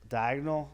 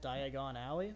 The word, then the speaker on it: Diagon Alley: So when you see like uh D uh oh my god, I can't pronounce it. Uh D Oh my gosh. Diagonal Diagon Alley.